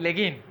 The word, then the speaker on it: Le Guin: elegir la ley y le guin de los leggins ella hacía leggins no